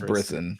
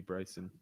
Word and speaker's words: Brisson: Pronounces like kissing. So yeah, it's Brisson. Gotcha. I don't know why I thought it would be Bryson.